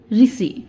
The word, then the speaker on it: ऋषि: Option A और डी में से कौन सा ऋषि इसका शुद्ध उच्चारण रूप है। तो इस प्रश्न का सही उत्तर है ऑप्शन डी, ऋषि, ठीक है।